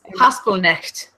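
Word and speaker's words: Haspelknecht: It starts with Hashpill and then it has a K. Haspelnecht. I believe that's it, but I keep saying it and then hearing it differently. Okay.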